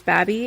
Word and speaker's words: Baby: baby b-a-b-y but according to its namesake james baby it's pronounced baby which sounds like the kind of